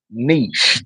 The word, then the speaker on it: niche: And it is pronounced niche.